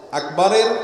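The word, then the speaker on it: أكبر: আল্লাহু আকবার উচ্চারণ করার সময় আকবরের রাকে টেনে পড়া ঠিক হবে কিনা? না, ঠিক হবে কেন? তাকবীরের সাথে বলতে হবে আল্লাহু আকবার, আল্লাহু আকবার, এরকম বলা যাবে না।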